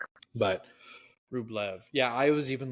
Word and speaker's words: Rublev: Rublev. That's how it's pronounced.